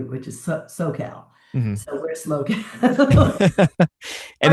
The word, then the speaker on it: SLO CAL: for visit SLO CAL is that how you pronounce it SLO CAL or Visit SLO CAL yeah so SLO CAL is San Luis Obispo